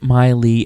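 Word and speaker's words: Mei-Lei: a joke about it they pronounced it Miley out loud but it sure looks like Melee to me which is way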